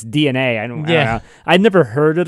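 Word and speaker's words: DeNA: partnership with DNA which it's spelled like Dina but it's DNA yeah I'd never heard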